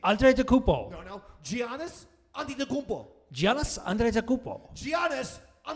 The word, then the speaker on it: Antetokounmpo: And an injured Giannis, Antetokounmpo. Go ahead, say that. Say it the way I did. That's how you properly pronounce his name. Antetokounmpo.